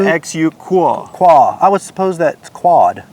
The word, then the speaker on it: QUA: do they call it I thought it was q-u-a but listening to comica's uh you know internal